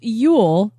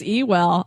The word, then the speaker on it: Ewell: so that was very enjoyable General Ule is pronounced Ule Denise you right yes Denise was right so when I said I think it's Ewell I was wrong yay Mark that down cuz